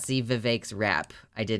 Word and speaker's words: Vivek: vote Republican yeah so his name is Vivek it rhymes with cake and yes he's Indian